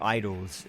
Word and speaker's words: Idles: They're called Idols. It's spelled IDLES, not IDLOS.